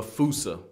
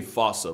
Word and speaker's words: fossa: to lemurs everywhere, the fusa. Although with its spelling, I'm pretty sure it's actually fossa, but the day I pronounce it like that is the day I lay my childhood to rest.